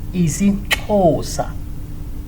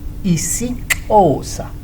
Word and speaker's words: isiXhosa: So if you have an X and H and O, means you have to click more harder. See? But if it's just XO, so you don't click so hard.